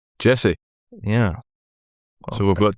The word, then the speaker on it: Jesse: You may have noticed I knocked the I and D off his first name because apparently that's the correct pronunciation. Jesse.